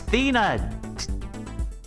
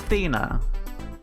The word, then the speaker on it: Athena: monologue for one second would think faina this whole time it's thina damn it well now i know fina it's thena i should have probably